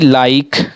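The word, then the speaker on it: like: जैसे कि लाइक give देखिए लाइक में लाइक लाइक ऐसा लग रहा है ना कि इ का उच्चारण नहीं हो रहा है।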